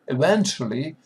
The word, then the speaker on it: eventually: Yeah, it is T, and that combination, that T, give us that eventually, it is connect, t and sh, connect, and we have ch. Eventually, our tongue go upper, and we hear ch.